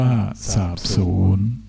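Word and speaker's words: สาปสูญ: สรรพชีวิต อ่าน ว่า สรรพชีวิต สาป สูญ อ่าน ว่า สาบ สูญ เหตุ การณ์ อ่าน ว่า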